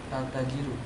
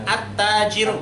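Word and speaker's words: التاجر: Yang kedua, bacanya apa tuh? Al-tajiru. Hah? Al-tajiru. At-tajiru.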